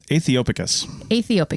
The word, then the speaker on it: aethiopicus: This next one's really hard to pronounce, but it's Aethiopicus. Aethiopicus. It's the AE sound, or I guess combination of vowels. Yeah. THIO and then picus, PICUS. Aethiopicus. Yeah.